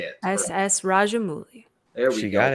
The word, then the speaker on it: Rajamouli: I'm not going to butcher this man's name, so if anybody can pronounce the director for RRR, please say it. S.S. Rajamouli.